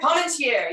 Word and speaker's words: Parmentier: Parmentier, yes, that is it. Thank you. Parmentier. Look, Fluffy. Oh, my pronunciation, not good.